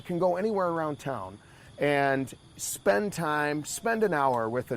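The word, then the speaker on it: ăn: It's spelled A-N. How would you pronounce that? An. That's it. It sounds like that, though, right?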